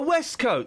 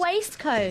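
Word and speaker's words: waistcoat: Oh, but it's pronounced a waste coat. No, it's pronounced west coat. Where? Where is it pronounced that? What country? Scotland.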